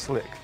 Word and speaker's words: Sleek: Actually pronounced Slick, but we spell it Sleek.